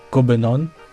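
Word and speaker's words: København: connaître copenhag ici que vous allez voir écrit avec un K et un o barré qui se dit qui se lit cobenon ici va y avoir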